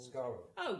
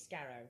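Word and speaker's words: Skaro: because I what's what's what's the D's home planet called scar oh yes I was calling it Scarrow all day Mar so um you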